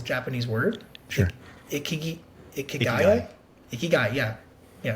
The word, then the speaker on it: ikigai: Yeah, I can't pronounce it because it's a Japanese word. Sure. Ikigai, yeah.